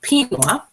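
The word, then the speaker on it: Pinnguaq: So I'm going to tell you first a little bit about Pinwa. So it's pronounced like quinoa, but with a P.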